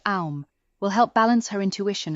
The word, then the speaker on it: Om: The Bija mantra, Om, pronounced Aum, will help balance her intuition and calm the mind.